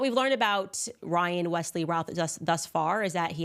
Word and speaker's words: Routh: I think yesterday I was calling him Ruth. It looks like the correct pronunciation is Routh.